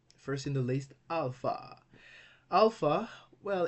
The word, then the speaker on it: alpha: First in the list, alpha. Alpha, well, it's one of the easiest letters to pronounce in Greek. It is pronounced like our A in English, like in father. Okay, father, alpha.